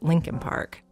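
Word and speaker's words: Leakin Park: k i n but almost everyone in Baltimore pronounces it Lincoln Park it's huge over a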